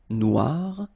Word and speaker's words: noir: for the feminine form but then you don't pronounce it okay so phonetically it is exactly the same Noir Noir Okay g don't pronounce the